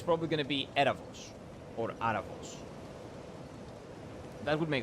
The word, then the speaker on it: Erebos: And if I'm correct, Erebos is pronounced Erabos. Or Arabos. Yeah, maybe Erebos. Or Erebos in Greek? Oh, you mean the V sound. The Vita sound. It's like the V in English.